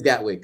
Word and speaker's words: Gatwick: it gatwick it got gatwick so it actually is phonetic okay 2012.